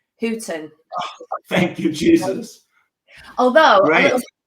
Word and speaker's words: Houten: and you did spell you did pronounce my name correctly hooton thank you Jesus although